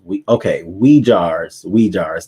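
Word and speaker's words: Uyghurs: It is pronounced we jars.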